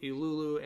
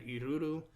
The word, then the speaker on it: Ilulu: character this is ilulu i've heard it as both ilulu and iruru the l rolls off my tongue better so that's the pronunciation i will be going with and she's kind of